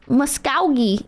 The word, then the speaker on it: Muskogee: It's pronounced Muskogee in Oklahoma.